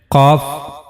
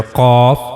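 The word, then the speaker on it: ق: And we also read that cough it is one of the bold letters. So while reading this letter cough we have to make a bold voice.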